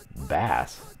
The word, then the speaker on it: Bass: Dick Bass, pronounced Bass.